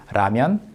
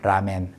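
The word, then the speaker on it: 라면: So I was very happy to hear this pronounced correctly like this in this scene. ramen, ramen, ramen, ramen.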